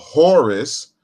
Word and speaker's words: Hor: You could just say hor if you don't want to use, or horu if you don't want to use the Greek S suffix.